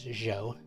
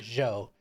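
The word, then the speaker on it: Jeaux: laughs Mark that down the guy's name is Joe j e a u x what what Jake what I spell that again Joe j-e-a-u-x so let's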